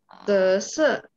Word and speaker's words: 紫色: 紫色。